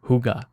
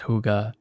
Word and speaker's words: hygge: a word I came across recently it's called hygge it's spelled h-y-g-g-e it's a Danish word and there's